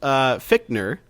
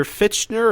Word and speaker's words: Fichtner: So William Fichtner is playing Shredder. You and your friends are dead. So Mr. Oh, he's playing Shredder. Mr. Fichtner or Fichtner?